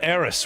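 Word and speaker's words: Aeris: And I remember Eris, which is the correct pronunciation of her name because it sounds better.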